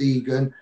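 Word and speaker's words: Igan: Max Egan, spelled I-G-A-N though, but it's spelled pronounced Egan.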